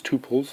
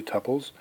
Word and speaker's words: tuple: are known as tuples i for the longest time pronounced this two poles and was corrected it's actually tuples each row is somehow